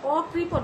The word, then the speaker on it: অকৃপণ: তো আমরা এভাবে উচ্চারণ করব অকৃপণ, অকৃপণে যদিও মূর্ধন্য ন রয়েছে, আমরা এখানে দন্ত ন উচ্চারণ করব এবং নিচে অবশ্যই হসন্ত দিতে ভুলব না।